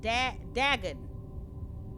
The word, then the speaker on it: Dagon: this game it's called Dagon not Dragon but dagging I think I'm saying it right but this is a